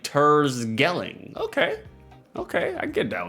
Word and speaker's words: Terschelling: The CH is pronounced as a G over here, so it's like Tersgelling.